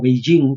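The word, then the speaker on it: Beijing: robando propiedad intelectual estadounidense pequín Por ende o beijin como se pronuncia fonéticamente eh es decir el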